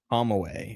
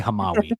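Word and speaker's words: Hamawy: Yeah, Adam Hamway. H A M A W Y. H A Oh, Hamway. Perfect. Or wait, I called him Hamway, but it's probably Hamawi. Yes.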